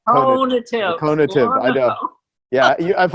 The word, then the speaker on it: conative: I've known you for so many years and you still don't say it right. It's I know. conative.